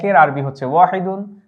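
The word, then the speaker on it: واحد: যেমন আমরা যদি 1 কে আরবিতে কি বলা হয়, এই যে 1 এর আরবি হচ্ছে ওয়াহিদুন, এটি হচ্ছে আরবি শব্দ। এই ওয়াহিদুনটা আমরা উচ্চারণ হচ্ছে এখানে লিখে দিয়েছি ওয়াহিদ।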